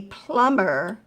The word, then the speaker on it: plumber: alright plum a plumber since that mb is in the middle of the words sometimes it gives people problems they try to pronounce it a plumber is someone who knows